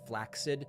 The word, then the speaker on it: flaccid: The protest was totally flaccid, and I know that technically the word is pronounced flaccid, but nobody says it that way, so I'm going to continue saying flaccid so people know.